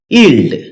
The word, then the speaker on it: yield: ইলড এটাকে আমরা ইলড উচ্চারণ করে থাকি। যার সঠিক উচ্চারণ হচ্ছে ইলড।